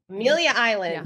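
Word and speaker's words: Amelia Island: independent one yes I'm going it is in Amalia Island in Florida Amilia how do you say it Amilia Island yeah oh my gosh that's right by my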